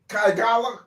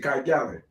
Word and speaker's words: Kigali: Kagala, how you pronounce it? The major city in Kigali? Kigali? Yeah, that's it, Kigali.